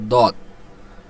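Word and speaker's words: ضاد: agar সঙ্গে লাগায় উচ্চারণ হয় সদ তারপর আসছে দদ এটা কয় সেকেন্ড টেনে উচ্চারণ করতে চার সেকেন্ড অর্থাৎ একটু টেনে পড়তে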